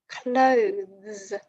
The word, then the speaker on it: clothes: different meaning cloths versus clothes can you hear the difference in pronunciation cloth clothes cloths clothes the second one is voiced the first is unvoiced and there's a difference